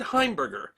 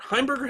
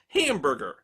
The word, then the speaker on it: Heimberger: early in his career heimberger had stopped using his last name for his acting credits because people kept mispronouncing it hamburger instead Edward Albert heimberger used